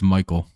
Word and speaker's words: Mycole: It's Michael. And that's just a really obnoxious way of spelling it. Yeah, the more I'm sounding that out in my head, it sounds like Michael.